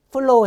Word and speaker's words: flow: 자, 요 flow도 윈 이빨로 아래 입술을 문 상태에서 flow 해보세요. flow.